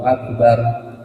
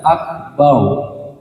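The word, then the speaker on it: أكبر: Akbar. Akbar bukan akbar. Akbar itu kalau kita nyebut nama orang. Tapi kalau dalam sholat, dalam membaca Al-Quran, hukum ro itu dia dibacanya tebal. Kalau misalkan didahului fathah atau dhammah.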